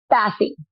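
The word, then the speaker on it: Basi: how to pronounce this is it b-a-s-i graduate Bassey yeah okay it is a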